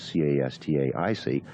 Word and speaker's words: Castaic: And but if you look at a map, this area is spelled C-A-S-T-A-C without the I. Mm-hmm. And the modern community, of course, is C-A-S-T-A-I-C, Castaic.